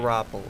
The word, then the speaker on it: Garoppolo: They're not going, the other dude, Jimmy, I'm not even going to try and pronounce his last name. Garoppolo.